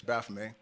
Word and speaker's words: Baphomet: and I know a lot of people say baffet uh but the tea and fr at the end of a word is silent so it's Baff uh Baff the the depiction that we all